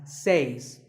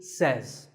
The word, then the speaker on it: says: number two is says this word is commonly mispronounced by people learning English as seis but remember I say you say but he or she says number three is etc